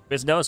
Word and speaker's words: Quiznos: It It is Is nose. Is that Is that like Spanish? Probably. Quiznos. Okay, I said it right.